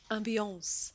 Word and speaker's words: ambiance: how do you say ambience? Is it ambience? Well, if you pronounce it correctly, it's ambiance, Yeah, but but that English makes it people sound like pronounce it ambience.